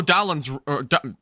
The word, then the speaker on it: Dowdle: So I could see the Carolina Panthers getting a good offense going, like I was saying earlier, when Rico Dowdle's... Why am I saying his name wrong?